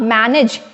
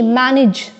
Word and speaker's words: मैनेज: मैं आपको बता दूं इट्स नॉट मैनेज ए इज not pronounce eight A इट is pronounce eight E मैनेज all right so थोड़ा